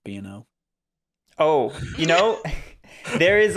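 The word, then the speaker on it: B&O: from people with two b o shares allen gary you know exactly i'm not doing it you know it's it's actually pronounced bno oh you know there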